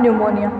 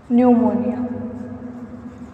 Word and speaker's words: pneumonia: तो हम स्टार्ट करते हैं आज न्यूमोनिया, रेस्पिरेटरी सिस्टम की डिजीज है न्यूमोनिया। इसमें पी साइलेंट रहता है।